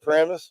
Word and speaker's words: Paramus: Paramus?